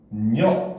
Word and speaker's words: 음력: 알겠죠 자 그럼 봅시다 음력이라고 써놨지만 발음은 어떻게 돼 그지 바로 발음은 응력 요렇게 됩니다 알겠죠 자 그럼 얘